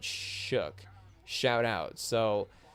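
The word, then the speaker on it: Shough: So Tyler Shook, even though his name is spelled O-U-G-H, there's no C or K in his name, but his name is pronounced Shook.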